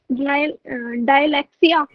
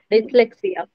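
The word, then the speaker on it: dyslexia: इसकी प्रोनाउंसिएशन क्या होगी, डायलैक्सिया, डिसलेक्सिया।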